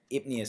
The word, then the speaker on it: apnea: It's spelled this kind of the same way, PN. You have that PN there, so it's that odd spelling. So it's actually apnea.